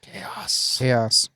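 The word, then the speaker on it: Khayos: that's his real name. Chaos. It's pretty awesome. K-H-A-Y-O-S.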